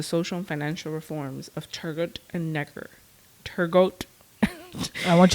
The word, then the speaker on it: Turgot: don't know I saying it's spelled turgot tur turgot no I'm pretty sure it's turo or turo turo may I think it's turo okay and Neer that